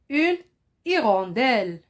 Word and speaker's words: hirondelle: et vous vous lisez après mois écoutez bien une hirondelle une hirondelle c'est un oiseau noir c'est un